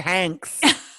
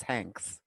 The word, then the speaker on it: Hanks: His name is Hanks. Hanks with an X. Rhymes with wanks.